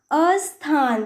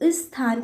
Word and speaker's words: स्थान: कुछ बोलते हैं जैसे कि स्थान, क्या होता है तो ये स्थान, पर कुछ बच्चे क्या बोल देते हैं इसको, अस्थान।